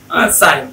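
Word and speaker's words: sign: তাহলে আইজিএন থাকলে জিটা সাইলেন্ট থাকবে। রিজাইন, ডিজাইন, foreign, সাইন etcetera.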